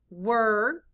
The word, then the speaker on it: were: w e r e in this word the letters e r e stand for the er sound blend with me er